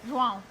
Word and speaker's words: João: João. Joao, gotta say it right.